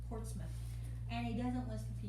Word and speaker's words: Portsmouth: town was foreign portsmouth it's pronounced portsmouth not mouth portsmouth and he doesn't list